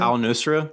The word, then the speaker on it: al-Nusra: How how do you pronounce it? Al-Nusra.